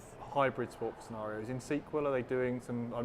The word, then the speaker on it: SQL: decided that that's official sequel server it's not SQL Server and sequel server yeah excellent I had